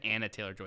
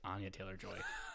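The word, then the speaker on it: Anya Taylor-Joy: I loved Voldemort I know and I said Anna Taylor Joy it's Ana Taylor Joy I'm never looking up names again this is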